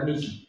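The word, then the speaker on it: mihi: Mi nombre es, lo digo en español, en latín se dice mi menes, pero se escribe m i h i miji. Ni siquiera se dice mi ji. Sí, no es mi ji con j, es mi.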